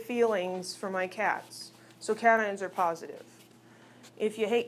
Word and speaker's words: cation: Those are pronounced cation and anion. It isn't a cation and an anion.